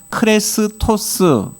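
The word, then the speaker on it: χρηστός: 그리스도를 뜻하는이 그리스어가 크리스토스라는 발음을 가지고 있고요. 오늘 우리가 살피는이 친절이라고 말하는 용어가 크레스토스. 어째 좀 비슷합니까? 네. 그렇죠.이 이 단어의 발음이 좀 서로 비슷한 바람에 많은 사람들이 예수의 초기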